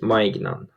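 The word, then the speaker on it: Maignan: player a new goalkeeper uh leela's goalkeeper mike nunn i think uh yeah you pronounce that his last name am i great mike might know yes mike mignon yeah so a very good uh powerful move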